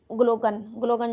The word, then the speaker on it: Glaucon: और कौन थे, ग्लूकॉन नहीं बोलेंगे, इनको बोलेंगे ग्लूकन।